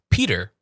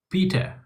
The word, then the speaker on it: Peter: There's a D in there. So, it's P and then you say Dur. Peter.